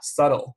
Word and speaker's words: subtle: 词 subtle 啊，千万不要把它读成 subtle 了，这个 b 几乎是不发音的啊，subtle 就是这种